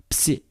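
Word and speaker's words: Ψ: Psi is like Xi, also double consonant. Here is B, P, S together. Of course, the Greek P is B, it's not P. Psi, psi, double consonant, two consonants together.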